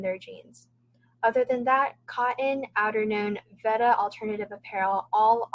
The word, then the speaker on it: KOTN: Other notable mentions are Veta for women's apparel, 8A for women's office wear, and cotton, which is spelled KOTN, for basic tees.